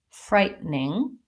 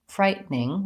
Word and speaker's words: frightening: should be frightening but Americans will very frequently say this more like frightening frightening where we leave the the middle syllable out so we tend to